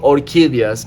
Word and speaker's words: orquídeas: In Spanish, it's called orquídeas, and yeah, these are not guarias, but these, these are some exotic freaking plants right here.